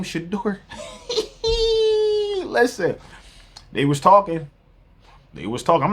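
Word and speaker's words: Shedeur: Shador. How you say his name? Shador.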